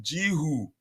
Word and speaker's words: Guiu: uh by the way coach apparently guoy is pronounced jiu really ji who first you is silent but